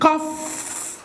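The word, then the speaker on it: cough: وزي كلمة قف اهي قف اهي، ما انا عندي السي بتتنطق ك هنا لان بعد منها او مش اي او اي او واي، وهنا طبعا دي بتتنطق قف تبقى قف زي اللي هي قف خلاص.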